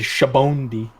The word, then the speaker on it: Sabaody: Japanese guy says Shabondi. Shabondi? Ew! Ah! That's what the One Piece announcer says. Shabondi?